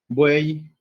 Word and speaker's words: buey: Este tiene sonido de I latina porque va después de una vocal. Entonces, bu, I, ¿no?